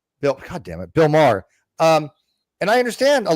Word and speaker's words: Maher: Um, once one secounder, Bill Mau, Bill Maher, sorry, Bill Mau, I don't know why I pronounced his name, but Bill Mau Maher.